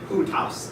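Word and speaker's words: οὗτος: Remember, we don't pronounce that au. It's u. Utos.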